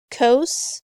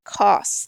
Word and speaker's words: cos: abbreviating ta n tan keep in mind that cosine when we abbreviate it if you want to call it coasts you know we do cos is all we do for that do not call it costs though you will sound ignorant like you don't know what you're talking about same thing for sine